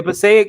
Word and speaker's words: Passaic: Yo, I always pronounce it wrong. Passaic County. Yeah. Yeah, Passaic.